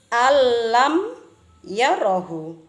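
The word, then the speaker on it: أن لم يره: Jadi lafal an lam yarahu cara membacanya adalah Alam yarahu.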